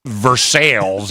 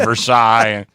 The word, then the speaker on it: Versailles: A lot of people in Pittsburgh call North Versailles instead of Versailles.